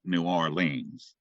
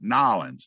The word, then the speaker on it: New Orleans: know shock because doubts we don't call it New Orleans Northerners call it New Orleans New Orleans I said how do you say it and that was it nollins I said well I